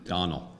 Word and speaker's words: Domhnall: to keep it down Donal Donald Donal don't Donald don't all like Tony spits on camera like tone oh that's good rhymes with tonal that's an easy winner